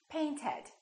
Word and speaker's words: painted: practice another word paint paint ends with a T therefore the past tense is painted let's practice a few